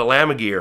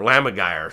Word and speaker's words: lammergeier: There's a vulture called a lamagire, or lamagire, some people pronounce it a little bit differently, that will take bones